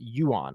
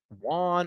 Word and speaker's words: Yuan: I believe that's how he pronounces it, Yuan. I've heard other people say Juan or Yan.